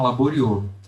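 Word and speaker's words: Laboriaux: bem aqui em cima se chama laboriô E aí se escreve labo r i a u x isso mesmo na tabela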